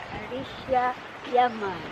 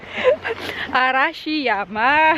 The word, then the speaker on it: Arashiyama: Sa Arisha, Yaman. Hindi niya pa rin ma-pronounce. Arashi Yama.